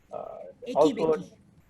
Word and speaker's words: Ekibeki: Ikibiki, is that the name I'm pronouncing? Uh, Eki also, Beki.